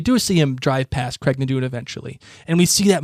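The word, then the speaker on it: Craigh na Dun: Craig Nadoon. It's not like Cocknammon Rock. Oh, it was Cocknammon Rock there. Yeah. we see that you're right. We do see him drive past Craig Nadoon eventually, and we see that motorcycle zip past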